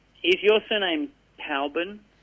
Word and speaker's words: Cockburn: It's spelled, it's pronounced Coburn.